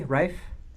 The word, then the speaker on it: Raif Badawi: Yeah, well, I've read about the case of Raif Badawi. Am I pronouncing that correctly, Raif?